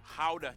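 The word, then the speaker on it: Gouda: joy of the nation how cheese yep that's how you pronounce it guys oh and keep I'm saying guda still keep in mind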